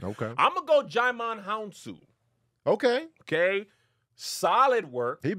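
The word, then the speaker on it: Djimon: Oh, he's Jaimon. Yeah. You don't pronounce the D.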